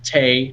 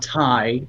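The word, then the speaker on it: Taya: she basically clarified that it is pronounced tay not thai as some people do and then uh they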